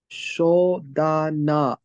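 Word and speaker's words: 書棚: Shodana. Perfect. So that last part right here is pronounced as dana.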